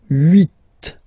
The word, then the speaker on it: huit: Then here, final T is pronounced, so huit, huit. Remember in French this H letter here, okay, doesn't exist phonetically, so we don't really pronounce it, okay, so if you listen carefully, you will only listen or hear these vowels at the beginning of the word.